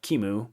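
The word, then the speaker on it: QEMU: github action that's docker setup kimu action that's how you pronounce it because this is a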